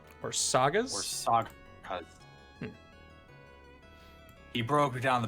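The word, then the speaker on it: Országház: Hermit Crad King of Beasts says it's pronounced Orsaghaz. Or Sagas?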